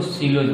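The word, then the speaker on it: κοῖλος: इसको सिलोज बोला जाता है ग्रीक भाषा में, के से नहीं स से उच्चारण किया जाता है, सिलोज।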